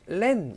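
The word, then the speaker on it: เล่น: 이 렌이라는 단어도 잠깐만 보시면 이게 장모음의 에잖아요. 딱 봐도. 하지만 우리 길게 한다, 짧게 한다? 단모음으로 발음하셔야 됩니다. 얘도. 네, 그래서 헝낭렌 하셔야 올바른 발음이 되고요.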